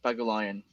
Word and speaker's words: Pagulayan: me that's pegye Lian thank you people in the States gotta pronounce it like taking lions but but